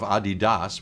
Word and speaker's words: Adidas: And then we went to the headquarters of Adidas, which is how you pronounce it apparently.